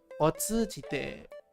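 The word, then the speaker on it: 通じて: Okay, this is pronounced tsu, this is not to. Otsujite.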